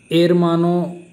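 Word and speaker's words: hermano: ब्रदर, एरमानो सही रहेगा, मतलब इसका प्रोनाउंस एरमानो की तरह होता है।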